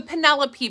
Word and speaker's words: Penelope: our bestselling bags um it's the Penelope bag but it's spelled Pine L like you said it wrong it's spelled Pine l so that's what we call it around here but it is meant to be the Penelope um even the creators